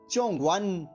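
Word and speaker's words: 中文: एक बार फिर से स्पेलिंग नोट कर लीजिए, ZHONGWEN। अब इसका ध्वनिवादन सुनिए, चोंगवन, चोंगवन, चोंगवन।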